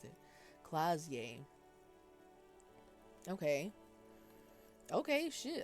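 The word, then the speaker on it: Klaasje: Clausier Amandu. Clausier. Okay. I have not been able to pronounce her name at all. I'm so glad she pronounced it. Clazier.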